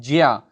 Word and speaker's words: ज्ञा: तो ज्ञा को सबसे पहली बात तो उच्चारण जब हम करते हैं तो उसको बोलते हैं ज्या।